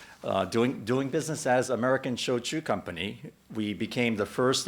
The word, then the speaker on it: shochu: doing business as american shochu company we became the first and only genuine shoujo distillery in north america right here in Maryland shochu which is pronounced like tradeshow Chewbacca is the other traditional